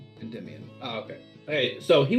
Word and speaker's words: Endymion: he's chillish okay oh and and it's it's pronounced endymion just there we go yeah so shambrose apologizes